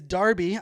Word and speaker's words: Derby: be in Darby UK I was pronouncing it Derby but I was corrected early this morning it is Darby I'll be in Darby